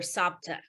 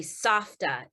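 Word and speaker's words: סבתא: My sister and I, we called her Sapta. It's actually Safta in Hebrew, but we couldn't pronounce it.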